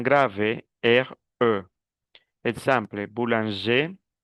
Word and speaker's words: boulanger: Exemple, boulanger, cuando termina en R, no pronuncio la R. Boulanger, boulangère. Le féminin, oui, je prononce le R.